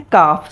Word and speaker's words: calf: Number 1 है काफ, CALF, L silent है। काफ the baby of अ काव, यानी कि गाय के बच्चे को काफ कहा जाता है। और सेकंड काफ है CALF, एल जो है वो साइलेंट है।